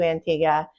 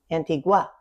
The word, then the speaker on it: Antigua: Antigua? Yes. Antigua, spelt spelled the same exact way in the Caribbean does not pronounce the wa at the end.